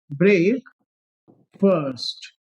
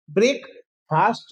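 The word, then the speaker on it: breakfast: तो ब्रेकफास्ट नहीं है। ये क्या है? ब्रेक फर्स्ट। बोलिए। जैसे फर्स्ट आता है ना? मैंने कहा मैं क्लास में फर्स्ट आया हूं। वही वाला फर्स्ट है।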